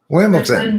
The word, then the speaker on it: Wimbledon: Are you saying it with a T? It's with a D. Wimbledon. Wimbledon. Yeah, but okay, yeah. Who pronounces it like that? Nobody pronounces it Wimbledon. Everyone in England does.